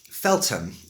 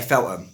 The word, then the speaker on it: Feltham: And I come from a place called Feltham. Feltham, pronounced correctly. But I say Feltham. That's my accent, yeah?